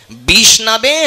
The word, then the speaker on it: বিষ্ণবে: পূজাপাঠ করেছেন তারা বুঝবেন একজন মূর্খ ব্যক্তি উচ্চারণ করে ওম বিষ্ণায় নমহ কিন্তু বিষ্ণায়ও হয় না সঠিক উচ্চারণ হচ্ছে ওম বিষ্ণবে নমহ।